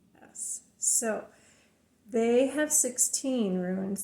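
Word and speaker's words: ætt: So instead of the A sound, it's the E sound. So Aetts is spelled Aetts. So in Scandinavian, my Danish heritage, it would be Etts.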